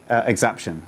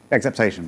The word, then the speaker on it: exaptation: extended the ARPANET embraced exaption, or I can never know how to pronounce this. I learned this from who had it? Exaptation, perfect.